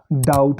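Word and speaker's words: doubt: हम इसको बोलेंगे सेटल इन सब शब्दों में टी की आवाज़ ए रही है लेकिन बी साइलेंट हो जा रहा है दोस्तों जैसे इंग्लिश में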